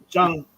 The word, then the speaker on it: Shang-Chi: Shang, like Sean. Shang-Chi. Just say Sean, but with a G sound at the end.